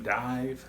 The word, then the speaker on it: DIIV: It's by, I believe they pronounce the name Diiv, but it's spelled D-I-I-V.